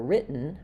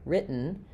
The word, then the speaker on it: written: And then for written, written, you're going to hear the unreleased T is shorter.